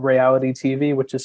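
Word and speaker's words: Rayality: And I also host a political interview show on YouTube called Reality TV, which is spelled RAY-ALITY TV, where, like Ryan, I also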